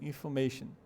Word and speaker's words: information: Se escreve com O, mas ela não é pronunciada assim. O som dela tem um schwa ali no lugar do O. Então ficaria information.